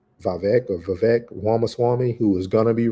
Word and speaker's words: Vivek Ramaswamy: by his name is, I say it wrong every time, but it's Vivek Ramaswamy, who is going to be running for president and step down.